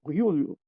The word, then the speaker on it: Giulio: Eu não tenho aqui o nome dele à frente, mas pelo que me estavas a dizer, é Giulio que se pronuncia o primeiro nome dele.